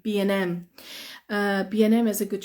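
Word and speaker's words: B&M: B and M now I've already told you before that with b and Q we just say b um Q so for this one how do you think we pronounce this one it's the same thing isn't it okay okay it's going to be B B M B and M B N M B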